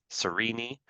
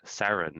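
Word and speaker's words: Sarene: and Sereni. I was shocked when I heard that as the pronunciation for the name when I was started the Oh, really? graphic on it. I thought it was Saren or something like that.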